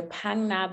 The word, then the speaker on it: Phang Nga: Now, next up on our list is the Phang Nga Bay National Park.